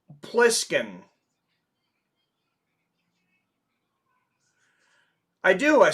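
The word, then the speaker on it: Plissken: You know that it's Pliskin.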